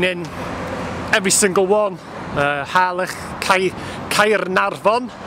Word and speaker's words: Caernarfon: Harlech, Caernarfon, as it should be pronounced.